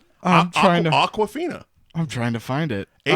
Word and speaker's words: Awkwafina: And it's spelled like the New York accent way. It's like Aquafina. Yeah, exactly. Aquafina. It's almost like she saw a water bottle, asked somebody how to pronounce it, and then said it in her own accent, and that's how it came to be.